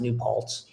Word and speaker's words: New Paltz: And I think the SOS triathlon, and it's pronounced New Paltz, is multiple disciplines.